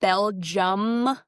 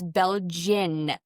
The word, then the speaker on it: Belgian: Also, it's not Belgium Malininoa. It's Belgian Malininoa.